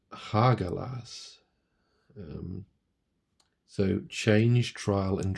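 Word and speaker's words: Hagalaz: all about change trial and transformation and it's pronounced hagelas um so change trial and transformation like I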